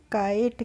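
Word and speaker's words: kite: हमने पढ़ा है बाइट तो के आई टीई को क्या बोलेंगे बोलेंगे हम काइट क्या बोलेंगे काइट इसको हम किटे नहीं बोलेंगे हम बोलेंगे काइट बाइट काइट इसी तरीके से पढ़ेंगे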